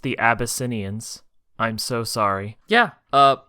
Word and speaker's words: The Abyssinians: have and oh God absans I think is how you say that it's pronounced the abyssinians I'm so sorry yeah